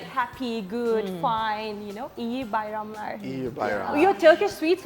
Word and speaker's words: İyi Bayramlar: It is İyi Bayramlar.